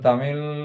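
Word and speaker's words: தமிழ்: এরপর তামিল, তামিল তামিলের লটা, শেষের লটা কিন্তু ল নয়, এল এল উচ্চারণ নয়, ওটা এলের যে উচ্চারণ সেটা নয়, সেটা অর্ডার কাছাকাছি হচ্ছে তামিল।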